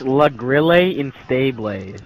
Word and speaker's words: La Grille Instable: La Grille Instable, and, yeah, this is Halo 4 Custom Games. You said it wrong. You said it wrong. It's La Grille Instable. That's what you say in French.